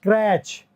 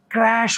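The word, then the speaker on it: crèche: CRECHE, इसको कई लोग बोलते हैं क्रैच। मैं जब ऑफिस जाती हूँ तो मेरे बच्चों को मैं क्रैच में छोड़ी आती हूँ, उसके बच्चे तो क्रैच में पढ़ते हैं। अमूमन लोग, कॉमन लोग यही बोलते हैं, बट दोस्तों ये क्रैच नहीं होता, ये क्रैश होता है, क्रैश। This is क्रैश, क्रैश में श का साउंड देगा सी एच। क्रैश वो जगह होती है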